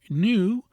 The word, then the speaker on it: new: New, pronounced as new, is an example, and few, as in foo, and the true sounds are new and few, the U retaining its proper soft sound and not that of oo.